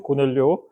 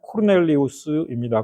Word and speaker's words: 코르넬리우스: 그의 이름은 고넬리오. 어, 로마식 이름로 발음한다면 코르넬리우스입니다.